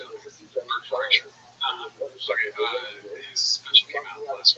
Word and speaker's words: Bert Kreischer: This last week, Bert Kreischer's, that's how you say it, Bert Kreischer.